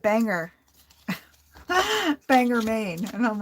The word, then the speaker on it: Bangor: yours Gloria in Bangor so Out of Towners call it banger Bangor Maine and I'm